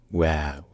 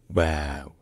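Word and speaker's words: واو: Anyway, the name of the letter is pronounced Wow. Wow.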